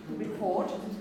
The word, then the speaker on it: report: Okay, the word is report. Report. It's not at the beginning of a word, but it is at the beginning of a stressed syllable. So there is aspiration.